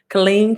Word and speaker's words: Killeen: silver stacking report okay not far from think pronounced Colleen Colleen okay Killeen Texas I got you I'm not far from